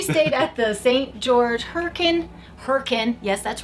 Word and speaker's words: Hurricane: George Hurricane. Yes, that's right. I said Hurricane. That's how you pronounce it according to the locals.